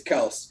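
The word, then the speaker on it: Kelce: he did you know we've been saying kelsey's name wrong the whole time yeah it's kels yeah yeah yeah that's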